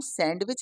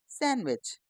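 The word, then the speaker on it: sandwich: डब्ल्यू आई सी एच इसको हम सैंडविच नहीं कहेंगे क्या कहेंगे सैंडविच जे यू डी जी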